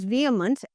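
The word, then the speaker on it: vehement: So, this is pronounce वियमंट।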